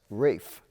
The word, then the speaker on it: Ralph: And the first name, R-A-L-P-H, he pronounced as Rafe.